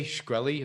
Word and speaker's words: Shkreli: Shkreli, is that how you pronounce it?